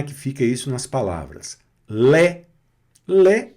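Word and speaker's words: lait: Então pronuncia-se como é aberto nunca aí. Não, não vai mais nessa. Esqueceu esse sistema português, não é? Então aqui, olha, olha como é que fica isso nas palavras. Lé.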